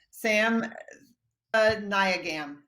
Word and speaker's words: Sam Thevanayagam: watching that are like, well, how do you pronounce that name? So I've got it down, I think. Sam Thevanayagam.